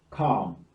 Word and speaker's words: calm: The next one is AL, as in balm, calm, psalm, palm, half. Take note, the L is silent.